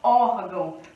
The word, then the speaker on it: órgão: em pé se palavra órgão tá vindo aqui ó ó órgão órgão sílaba tônica é um ó portanto temos uma paroxítona porque a penúltima sílaba que é mais forte beleza por quê que